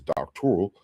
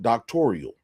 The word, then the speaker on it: doctoral: in a doctoral program, you would know that the word is doctoral and not doctorial.